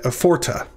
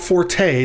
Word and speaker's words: forte: ace the dog forte forta or dage khazak this means strong doge remember it's not forte this isn't italian this isn't a musical instruction this is latin from